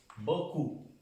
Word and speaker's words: beaucoup: Entonces, muchas gracias, decimos merci beaucoup. Beaucoup. Si ven estas tres vocales, se pronuncia O, la O y la U, beaucoup. Esta P no se pronuncia.